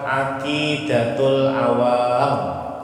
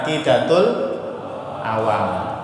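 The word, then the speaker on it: Aqidatul Awam: kitab kuning namanya kitab akidatul awam ya Apa nama kitabnya akidatul awam yang benar bacanya akidatulam Awam panjang wawnya panjang awam ya mimnya ditasdir ya karena ada yang bilang akidatul awam wawunya harus panjang ya akidatul awam pernah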